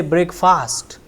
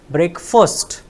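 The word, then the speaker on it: breakfast: John R then again we have heard many times that people say break fast it's not fast or slow it is break first it is break first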